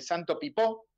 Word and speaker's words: Santo Pipó: hombre de misiones de Santo pipó el acento en la O sí eso sí seis